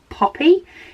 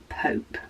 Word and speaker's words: Pope: She says most say Poppy instead of Pope.